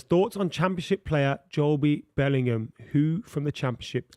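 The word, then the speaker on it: Jobe: Uh Big Dog says, "Thoughts on championship player Joby Bellingham who from the championship excite." His name You don't pronounce the be. It's not Joby. Joby won. No, it's from the Bible. Job.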